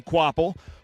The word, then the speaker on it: Kvapil: So it is pronounced Carson Kvapil.